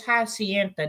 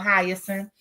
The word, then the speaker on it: Hyacinth: Y'all, I used to call this Hacienda. Now, where the heck I got that from? I guess because I was looking at the TH that's at the end of this word. But it's spelled Hyacinth. So that's why I was calling it Hacienda, y'all. I had made this my own name, okay?